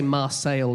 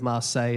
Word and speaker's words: Marseille: Yeah, so he would say Marseille instead of Marseille, and he'd say Calais, but he deliberately mispronounced these things, didn't he?